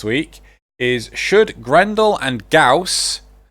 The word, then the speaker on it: Gauss: Why couldn't they just spell it GAWS? Because that's not how the word is spelled. No, but that's not how the way the word is pronounced.